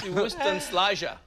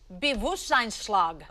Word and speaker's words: Bewusstseinsschlag: You added a syllable. No. Bewustenschlager. So it's Bewusstseinsschlag.